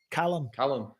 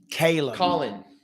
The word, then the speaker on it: Callum: Callum. Or as Americans say, Caleb. Callum. I would not call him Caleb. Ridiculous. Please get it correct.